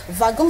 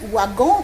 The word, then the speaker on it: wagon: Wagon s'écrit wagon, mais ça se lit wagon.